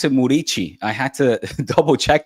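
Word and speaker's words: Muriqi: Uh Muriki, who actually you pronounce it Murichi.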